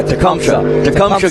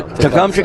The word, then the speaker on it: Tecumseh: Yeah, Tecumseh, Kansas. There you go. Tecumseh, Kansas.